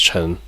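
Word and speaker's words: Ch'en: to be chin um because she had a apostrophe CH apostrophe e n in her name but apparently yeah for whatever reason they put the apostrophe there but her name is just pronounced Chen uh these are probably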